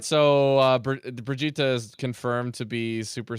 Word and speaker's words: Brigitte: tree and by the way her name is pronounced Bri cheetah I thought he was weird but he really